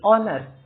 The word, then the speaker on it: honor: जैसे कि ऑनर, ठीक है, ऑनर का स्पेलिंग तो एच से बिगिन हो रहा है बट क्योंकि हम इसको प्रोनाउंस कर रहे हैं तो ओ, दिस इज अ वोवेल, इसके कारण इसके पहले हम एन का यूज करते हैं। ठीक, क्योंकि जो यहाँ पे एच है वो अनप्रोनाउंस्ड है, वो एक साइलेंट लेटर है।